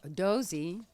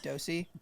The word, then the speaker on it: Dosey: like the S, like Dosey, but it's pronounced Dosey, like Dozy Doe, like Dosey.